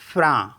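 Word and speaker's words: frein: next word है एफ आर ई आई एन फ्रा फ्रा मीस होता है ब्रेक सी ई आई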